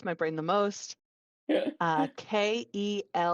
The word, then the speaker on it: Kelvin: brain the most uh k-e-l-v-i-n pronounced Calvin it's Kelvin but they pronounce it Calvin you're just you're setting